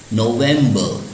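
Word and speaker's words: November: नवंबर, last में R है word में, लेकिन R साइलेंट होता है, तो हम इसको इंग्लिश में अच्छे प्रोनाउंसिएशन के लिए हम कहते हैं नवंबर।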